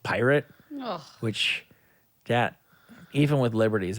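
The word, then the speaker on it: PYRT: the fire festival with it's p-y-r-t all caps again so it's not part he says it's pronounced pirate which that even with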